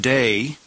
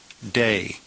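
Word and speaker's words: δεῖ: It's found in the third singular and it's pronounced day and it means it is necessary. An impersonal verb. It is necessary pronounced day.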